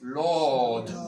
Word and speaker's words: Lord: Señor se dice Lord, terminado en D, ¿probáis? Lord. Lord, la R no se pronuncia.